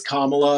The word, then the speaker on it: Kamala: say it Marty yeah it's it's kamla apparently kamla okay Kamala they decided four years into into her vice presidency that it that it has to be pronounced a certain way like that just sorry